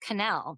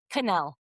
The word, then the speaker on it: Quesnelle: It's actually pronounced Canel. It doesn't look like that, but yeah, it's pronounced Canel, but I answered pretty much anything.